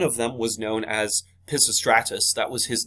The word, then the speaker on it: Pisistratus: But Pisistratus, okay, and it's spelled slightly different than how it is pronounced.